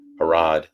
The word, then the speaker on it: Harrod: Pennsylvania without the pen harod like parents of London and we're good to